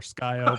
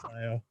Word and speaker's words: Scio: People call it like SC10 or Skyo, but it's Scio.